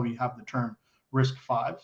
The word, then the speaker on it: RISC-V: we have the term risk five so even though it's a v like you pronounce it risk five um and then in